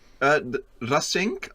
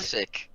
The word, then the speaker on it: Rasik: Which is Rasink? Am I pronouncing that right? Rasik. Rasik. Rasik. There's no N in it. Rasik. Rasik. Right, the Rasik. You don't. Yes, Please don't roll the R.